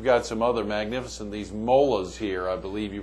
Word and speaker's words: molas: So, you've got some other magnificent, these molas here, I believe you pronounce. Yeah, molas.